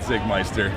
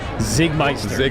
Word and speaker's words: Czigmeister: Zigmeister. Pronounce Zig was spelled with a C to start, so don't screw that up when trying to search him out.